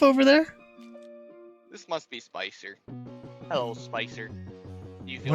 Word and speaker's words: Spicer: S-P-I-C-E-R. It's exactly as you would imagine.